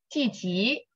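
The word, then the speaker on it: 积极: You still have the it's not like 积极。积极。积极。积极。积极。 I don't know how to explain, but you have the z. Okay. When you pronounce, I don't have that z. I would 积极。积极。 Yes, 积极。 Okay. It's not like crushing your tongue and.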